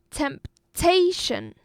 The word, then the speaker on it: temptation: Temptation. Again, temptation. It's a 3-syllable noun. And the stress, the emphasizement was going on the second syllable.